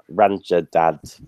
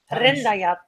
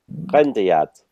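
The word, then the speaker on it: Rändajad: Sometimes I'm thinking of Estonia and Ranjadad, but I've probably not pronounced that correctly. Go on, Jana, how do I pronounce it? Rendajat. Rendajat. Now, Martin, we've got Kino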